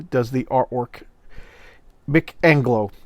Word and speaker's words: Mick Anglo: Okay, Mick Angelo does the artwork. Mick Anglo. I've been saying his name wrong. Mick Anglo.